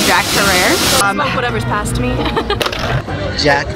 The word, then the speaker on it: Herer: It's Herer, like in terror.